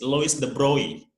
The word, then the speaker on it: Louis de Broglie: named lois the broly although it is written the broccoli but actually uh how to pronounce his name is lois the brownie and louis de broglie came from fringe and